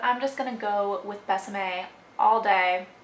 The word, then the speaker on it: Besame: So if you don't know the whole story with Besame, I'm assuming it's Besame, like rhymes with Tresemme, but I'm not 100% on that, but I'm just gonna go with Besame all day.